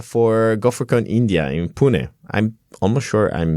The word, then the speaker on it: Pune: out to India for golfer con India in Pune I'm almost sure I'm mispronouncing it but I'm going to keep on